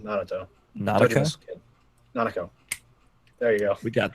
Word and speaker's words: Nanako: Because like Nanato or Naoto or however you say her name, Naruto. Nanako. Tojima's kid. Nanako.